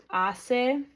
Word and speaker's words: hace: Isis and a usted hace number we don't pronounce the H sound silent when it's at